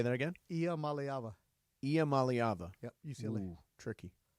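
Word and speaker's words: Iamaleava: Malyava.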